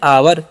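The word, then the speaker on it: our: तो ओ यू का जो उच्चारण है यहां पर ओ यू का उच्चारण आ होता है।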